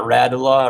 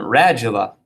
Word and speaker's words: radula: it r a j this is a long a ra ju okay it's not ratala or radula um radula this is what helps